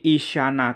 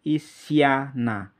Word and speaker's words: Isyana: Hai Isya tak kemudian nah Hai Nah jadi Isyana Kalau ditulis seperti ini ihsana Nuh kalau ini